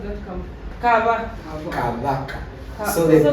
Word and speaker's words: Kabaka: No, can you just pronounce that Kabaka? So the B is not, it's almost a B. It's silent. Kabaka. Not ba. It's almost ba. Between B and V. Kabaka.